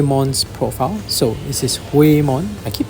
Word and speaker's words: Whamon: yeah way mod like the H is kind of Silent here so wayon um in this case